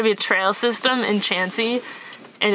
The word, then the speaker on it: Chauncey: this town is spelled c-h-a-u-n-c-e-y but it is not pronounced chauncey it's pronounced chansey so now when you're like i'm gonna go to chauncey ohio you can say chansey ohio people will make